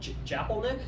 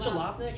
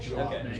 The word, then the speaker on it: Jalopnik: So far, or so much so that Japelnik, I can never pronounce their Jalopnik. Is it Jalopnik? Jalopnik.